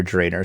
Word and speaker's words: Drannor: sorry uh and again that's a contested thing too on how you say it oh yeah drainer just doesn't look right from the way it SP right I see drer because that's how Ed Greenwood says it and he's the one